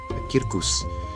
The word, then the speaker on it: circus: Kirkus. Circus. For people who don't insist on pronouncing Latin words in the classical Latin pronunciation like me.